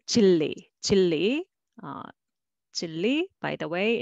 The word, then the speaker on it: 진리: The first one is syllable by syllable, 진리, okay, 진리, but it's very uncomfortable for Korean people, and they say they pronounce 진리, 진리, 진리.